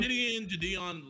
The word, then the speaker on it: Gideon: Gideon, like it's all the right pronunciation.